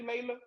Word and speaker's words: Layla: Are we pronouncing your name correctly, Layla? Yes, it is Layla. Thank you. Layla. Period. Like Layla She Hathaway.